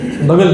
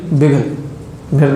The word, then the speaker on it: بگل: بگل، بگل نہیں بگل، مجھے جہاں تک یاد پڑتا ہے اس کا صحیح تلفظ بگل ہے، جس کو عربی میں قرن بھی کہتے ہیں.